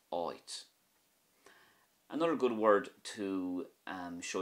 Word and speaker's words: áit: But if you put a fada over the A, it becomes oit, which means a place. So without the fada it's at, and with the fada it's oit.